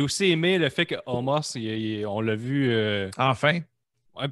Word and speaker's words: Omos: C'est Omos, je pense, comme son nom. Je pense que c'est Homo. Homo? On ne prononce pas le S.